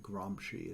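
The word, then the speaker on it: Gramsci: named uh Antonio gromi gromi g r a Ms c i gromi is how this is pronounced and a hegemonic structure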